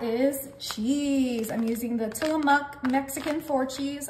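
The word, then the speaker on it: Tillamook: cheese I'm using the tillamuk Mexican for cheese I said it right this time you guys got to give me credits in the comments for saying till them up correctly okay and we're just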